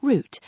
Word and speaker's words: route: In British English, it sounds like 'root'. In American English, some people say 'rout'.